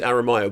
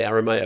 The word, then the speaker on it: Aramayo: He went, yeah, the Spanish pronunciation is Aramayo, but I say Aramayo.